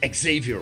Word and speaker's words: Xavier: coolest guys in town Xavier was his name stuff yeah that's how we pronounce it in Holland and he took me